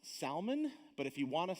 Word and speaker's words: Salmon: contains ruth it says now this word is pronounced salman but if you want to say salmon i'm not going to say anything about it okay i know you're hungry all right so salman the father of boaz whose mother was rahab